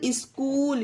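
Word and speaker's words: school: scheme और आगे देखिए स्कूल एस सी H double O एल स्कूल यहां पर भी एच साइलेंट है ओके फ्रेंड्स ये है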